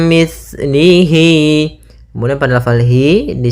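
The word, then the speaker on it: مِثْلِهِ: Kemudian hati-hati dalam pelafalan sa, jangan dibaca mis gitu ya, tapi di situ sa, mis, mim mislihi.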